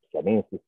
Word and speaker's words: siamensis: Le Palzorintus siamensis, tu lo devi pronunciare siamensis, perché è in latino e va pronunciato certo. Così. Però gli inglesi volevano che suonasse Siam Ensis.